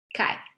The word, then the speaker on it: chi: And we denote this formula by this Greek letter that is pronounced chi.